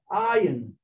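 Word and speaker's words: עין: So the word ayin, actually the letter is pronounced ayin, which means an eye.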